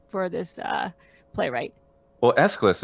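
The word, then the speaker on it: Aeschylus: this uh playwright well escalus is totally fine for the english pronunciation escalus that's the the normal one there um and let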